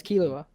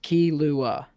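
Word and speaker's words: Killua: gonna sound super dorky the actual phonetic sounds in Japanese are key ah it's like in between an Ellen and R but we say oh because we don't want it sound to weep so it's just key Lua that's how you respect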